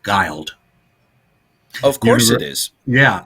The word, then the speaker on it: Guild: Yeah, it's pronounced Guile. Of course it is. Yeah. When she signed when she signed with 20th Century Fox early on, they tried to do a campaign saying Guile rhymes with wild.